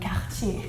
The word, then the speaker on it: Cartier: I can expect that you wouldn't pronounce it with a really French way, like Cartier.